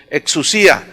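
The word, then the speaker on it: ἐξουσία: La palabra potestades viene del griego exousia, con X, exousia, más bien se pronuncia, exousia.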